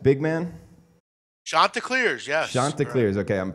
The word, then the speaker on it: Chanticleers: Chanticleers, yes. Chanticleers, okay, I'm pronouncing that right.